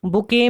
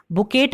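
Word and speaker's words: bouquet: बुके में ये बुकेट नहीं बोलते हैं, इसे हम बुके बोलते हैं। टी इसमें साइलेंट रहता है।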